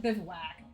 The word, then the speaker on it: bivouac: So apparently it said bivouac.